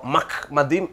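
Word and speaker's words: מחמדים: எப்படி என்று சொன்னால், இது மெம், மெம்முக்கு கீழே பட்டாக இருக்கிறது, அடுத்தது என்ற உச்சரிப்பு தான் வரணும், இதுக்கு கீழே இது அரை மாத்திரை உண்டு, அடுத்தது திருப்பி மெம் பட்டா இருக்கிறது, அடுத்தது இது டாலத் பாருங்கள், அதுக்கப்புறம் இந்த இம், அப்போ மக் மதீம் என்று தான் சொல்ல வேண்டும். அப்போ இவங்க என்ன சொல்கிறாங்க அப்படின்னா,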